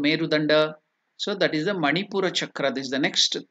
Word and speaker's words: manipura: to pronounce this chakra it is manipura chakra manipura chakra is the third chakra on the backbone exactly behind the navl so Nai so it is called can you pronounce it man chakra manur chakra the color is yellow and